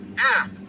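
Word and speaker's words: אַף: And so the word in that was anger, and that is Strong's H639, and that has the pronunciation as af.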